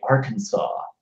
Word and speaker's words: Arkansas: really weird to me is when people say Arkansas there's no and there's an SST end it's